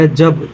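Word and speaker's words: hedge: Next है, कह रहा है डी कब साइलेंट होता है। कह रहा है जब जी से पहले डी आता है तब डी साइलेंट होता है।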